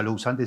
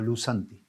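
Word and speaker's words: λούσαντι: Uno se escribe lavado lousanti, pero no se pronuncia lousanti, sino lusanti. Y el otro, liberado, es lusanti, sin la O, pero se pronuncia lusanti. O sea, los dos se pronuncian igual.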